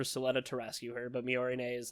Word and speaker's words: Miorine: No, it's Miorine. No. Miorine. Yeah, Miorine is trying to escape the school for Suletta to rescue her, but Miorine is like, don't do this, why are you doing this?